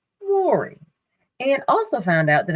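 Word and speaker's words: Mowry: the entire time she's been in television it's Mory and also found out that I've been pronouncing her sister's name wrong it's Tamir not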